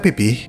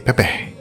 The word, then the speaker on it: pipih: pipih nah di Indonesia kata pipih dalam beberapa dialek diucapkan sebagai pepeh jadi beberapa dari kamu